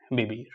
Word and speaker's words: vivir: We don't pronounce H and we pronounce V as soft B. Hablar and vivir.